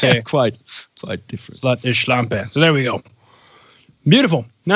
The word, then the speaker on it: Schlampe: Schluche? No. How do you say it? Oh, man. It's what you call a slut. Schlampe.